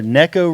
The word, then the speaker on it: Neko rig: I would say Nico, but I guess it's Neko. I'm going Nico. Yeah, It's like Rapala. Yeah, tournament. I can't make myself consistently say Neko rig, but that is the proper way to say it. There's no question that's the proper way to say it. But it rolls off the tongue easier to say Nico rig.